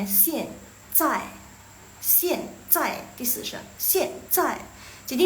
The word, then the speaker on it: 现在: Jadi bacanya xian zai, xian zai.